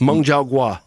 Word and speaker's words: Meng Zhaoguo: Meng Zhaoguo Meng Zhaoguo of Phoenix Mountain Food How do you say that?